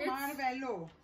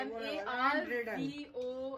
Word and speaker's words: Marvolo: No, Marvello. No, it's not Marvello. It's Marvolo. It's okay, M-A-R-V-O-L-O.